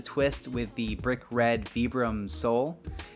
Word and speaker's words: Vibram: It does have a very traditional sort of like penny loafer style, but there is a twist with the brick red Vibram sole. Vibram? I pronounce it Vibram.